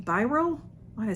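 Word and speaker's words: Bioré: It's Byroe, but it's not Biore. Biro, I would say Byroe. Biro. There's no accent over the E, so maybe by I think it's just Biro. And this is Biro, New York, it says.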